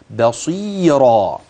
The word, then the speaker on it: بصيرا: الروايه انتبه بما تعملون بصي بصيرا الباء ترقق الصاد تفخم حرف المد الطبيعي الياء الراء بعد ذلك تفخم روايه هكذا بصيرا هذا هو الجانب العملي